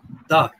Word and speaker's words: দ্বার: কণ্ঠস্বরটি খুব সুন্দর চমৎকার কিন্তু ঘুমের ধার নয় ওটা ঘুমের দ্বার কয়েক উচ্চারণটা ঠিক করতে হবে আমি তোমাকে দিয়েছি তোর